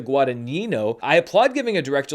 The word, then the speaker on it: Guadagnino: I said it wrong. I keep saying it Guadagnino, and it's Luca Guadagnino.